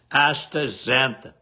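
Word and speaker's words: astaxanthin: Um, what they were asking, um, how do you even pronounce this? I don't know. I just always called it a zanthan.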